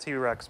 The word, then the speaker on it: Tit Rex: an in wasn't it's supposed to be pronounced t-rex but then of course